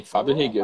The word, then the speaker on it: Fábio Rieger: Eu pronunciei o seu nome direito, é Fábio Rieger? Certinho, é isso aí, Fábio Rieger.